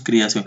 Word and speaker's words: creación: Pronunciamos la E como si fuera I. Todo de orgullo y de creación. Ya decimos creación, decimos criación. Casi como una I.